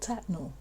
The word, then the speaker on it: Tettenhall: staffordshire in the midlands of england it's called tetnal at least that's how the real locals pronounce it locals also still call it the